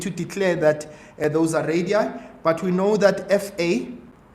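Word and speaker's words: radii: Uh no no no it's actually radi because that's plural for radius.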